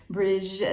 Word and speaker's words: Brigid: is presided over by goddess Brigid, or Bridge. She has many different names and goes by many different pronunciations, and she is the